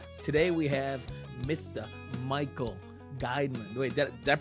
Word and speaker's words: Geiman: we experience so today we have Mr Michael guideman wait that pronounced that correctly yes you did sir thank